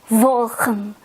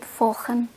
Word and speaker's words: volgen: Yeah, sometimes when I pronounce the V or V, I kind of more into F. It should be volgen, volgen. But sometimes I say it volgen. It should be volgen, vervangen.